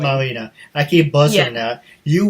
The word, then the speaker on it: Melina: It's pronounced Melina, actually. Melina.